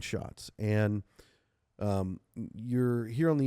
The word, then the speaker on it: Schatz: Tell us a little bit, and your name is pronounced Schatz, right? Did I say that right? Yes, yeah. Schatz. Schatz.